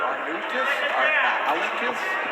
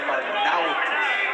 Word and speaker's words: Arnaoutis: And that is the pronunciation, by the way. We did check with Mighty Mike today because announcers seem to have a big problem with his name. We hear Arnaoutis, Arnaoutis. It's Arnaoutis.